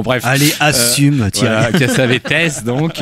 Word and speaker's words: Cassavetes: Normalement, je crois qu'on prononce Cassavetes à cause de ses origines grecques, mais on me reproche parfois de dire Cassavetes parce que ça fait snob.